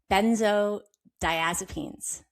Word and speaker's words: benzodiazepines: And that is and I have trouble pronouncing it benzo so ben- benzodiazepines.